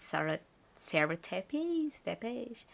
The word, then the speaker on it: Sara Tepes: Her name is very similar to Portuguese, and so I just say like in the Portuguese way. But Sara Tepes.